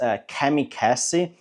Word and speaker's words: Kamikaze: it's written a little bit different than like the Japanese, those fighter pilots from World War II, kamikaze fighter pilots. But it sounds exactly the same when you pronounce it.